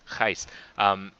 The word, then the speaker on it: Gijs: Is instead of me saying to Gijs like Gijs, sometimes I butcher his pronunciation. It's Gijs.